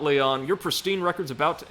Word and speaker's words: Leon: It's time for Champion Leon's exhibition match. Well, I suspect, given the culture they're drawing on, it would just be pronounced Leon, but...